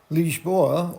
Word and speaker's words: Lisboa: Lisboa, or Lisbon, is the capital city of Portugal